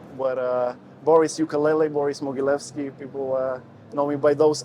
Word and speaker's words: Mogilevski: for the yeah so my name is Boris moguilevsky it's a hard one to pronounce but uh Boris ukulele Boris mogilevsky people uh normally buy those too yeah and